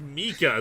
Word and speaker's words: Micah: Micah is how it's pronounced. Well, yeah, but traditionally it's Mika.